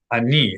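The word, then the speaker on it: אני: Ani, accent on the final syllable.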